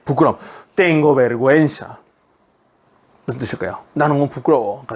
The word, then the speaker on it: vergüenza: 네, 여러분 구에 해우에면 원래 뭐 해야 돼요? 게 우가 발음 안 돼야 돼요. 근데 요 위에 뭐가 있습니까? 점 두 개 콕콕 찍혀 있죠? 이걸 diéresis라고 한다 그랬습니다. 그죠? 우를 생략하지 마라 라는 표시. 우 생략 안 됩니다.